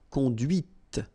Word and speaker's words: conduit: And that's when you hear the difference between conduit, because remember, final T is not pronounced, conduit, here, and then the feminine, conduite. Okay, so here you can listen to this t, t, okay, conduite.